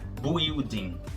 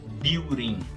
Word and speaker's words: building: Esse U não é pronunciado. Não é building, é building, que pode ser traduzido como prédio ou como construção, construir.